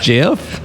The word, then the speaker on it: Geoff: It says Geoff, like Jeff. It's like Wyoming with an H.